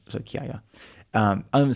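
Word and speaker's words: Chiaia: However, kaya, which I just mentioned, which is spelled like it's chaya. C h i a i a. Yeah. So, it's just ch in in Italian. There's a k sound in English. K. So, it's kaya.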